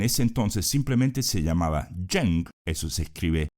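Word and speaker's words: Zheng: shuang que en ese entonces simplemente se llamaba jeng eso se escribe Z h e n G logra hacerse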